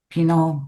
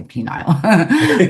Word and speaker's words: penal: Pino colonies. That's how you say it. And I was gonna say penile but um penal colony colony.